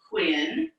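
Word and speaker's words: quintain: tilting at the quintane so this word tells us how to pronounce it quintin so this is a quintine he must knock over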